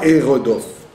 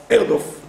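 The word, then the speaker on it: ארדף: Donc on ne dit pas Eredof. Erdof.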